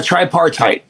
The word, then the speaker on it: tripartite: How do you pronounce that? Uh tripartite. Okay, so you say reality is a tripartite.